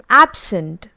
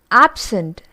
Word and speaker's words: absent: Absent. So you can see absent, when it is being used as noun, the stress is on the first syllable.